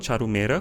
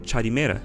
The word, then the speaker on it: Charumera: Elas pronunciam charumera como charimera.